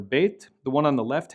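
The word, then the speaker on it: ב: When bet has the dot, or the dagesh, it will be pronounced b, like in boy, b, like in boy. When it lacks the dagesh, it will make a V sound like in very or victory.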